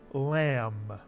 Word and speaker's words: lamb: For example, in the word lamb, the B is silent.